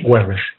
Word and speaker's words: Weber: Y aquí Max Weber, o Max Weber, como se pronuncia, nos indica que el comportamiento individual se estudia, pero dentro de la acción social.